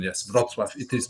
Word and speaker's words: Wrocław: Yeah, and yeah, Wrocław, very well pronunciation, very good pronunciation. Yes, Wrocław. It is Wrocław actually.